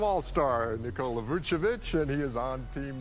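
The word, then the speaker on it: Nikola Vučević: though julius randle and nikia vic whatever should have been second to last picks bro can't say his name right but i got it right second time all-star nicole lavuchovic and he is on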